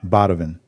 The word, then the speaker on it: Badovin: Badovin. Like Donovan, but Badovin.